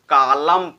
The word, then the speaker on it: column: यम का भी लोप हो जाता है। जैसे हमने एग्जांपल लिया COLUMN, इसको हम क्या पढ़ेंगे? कालम पढ़ेंगे, कालम, कालम नहीं पढ़ेंगे, इसको केवल कालम पढ़ेंगे।